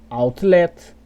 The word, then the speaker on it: outlet: A palavra outlet, outlook, outline, outlaw.